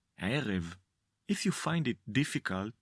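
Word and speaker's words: ערב: In Hebrew we say ֫érev. If you find it difficult to pronounce the consonant Ayin, you can say it like you’d pronounce the consonant Aleph.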